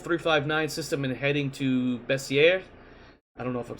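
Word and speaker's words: Bessieres: how is it spelled it's spelled in a French manner uh it's b-e-s-s-i-e-r-e-s so and I looked it up I actually Googled how to pronounce it correctly and it is bessier yep uh as to how it's pronounced but uh I'm not French I'm still gonna it up it's actually a slight Z on the double s that's entirely possible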